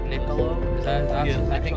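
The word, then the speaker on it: Niccolò: Was it like Niccolo? Is that Yeah, I think actually- pronunciation wise, it's Nicolo. so Nicolo Machiavelli. This is Italian.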